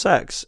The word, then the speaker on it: CeX: you don't pronounce that that's how it's pronounced cex is pronounced sex they actually call the